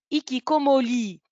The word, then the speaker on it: hikikomori: qui comme au lit ça s'écrit hikikomori ça se prononce hikikomori j'explique maintenant alors on